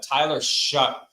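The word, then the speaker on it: Tyler Shough: is because he's a former Texas Tech quarterback Tyler shu is how you pronounce that name I I I don't like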